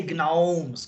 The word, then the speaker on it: gnomes: or or let's say gnomes call them gnomes yeah gnomes okay we don't pronounce the G but yeah bomes okay